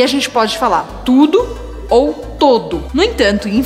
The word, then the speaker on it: tout: dominar a palavra T-O-U-T, tu. Então, você já percebeu que nessa palavra eu falo tu. Eu não pronuncio nem o U separado, nem o T no final.